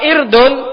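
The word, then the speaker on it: عِرْض: Kalau irdun artinya kehormatan. Jadi jangan salah bacanya.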